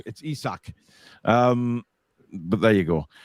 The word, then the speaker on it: Isak: not isaac or isaac i've heard many people pronounce it isaac as in chris isaac it's not it's isak um but there you